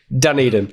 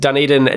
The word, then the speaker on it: Dunedin: Dunedin. A lot of the funding seems to be going there. And Dunedin now accounts for about 25% of New Zealand studios.